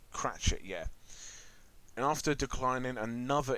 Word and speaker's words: Cratchit: named bob was it bob clap catch it or clutch it he's voiced by rhys iraq's i think is that how you pronounce his name oh i fans yeah bob cratchit yeah and after declining